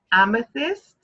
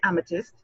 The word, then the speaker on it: Amethyst: And you know, just when you have to pronounce amethyst, you have to put that tongue between your teeth kind of thing. You just can't say amethyst. No. You have to pronounce it properly. Amethyst. With care. With love.